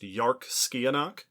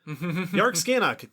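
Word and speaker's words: Dearc sgiathanach: This one is named Yarkskianach. The name is not spelled like it should be pronounced that way because it is Scottish Gaelic.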